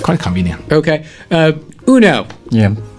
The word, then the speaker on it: Uno: Yeah, it's spelled like UNO, and in English it's like Uno, but in Swedish it's Uno.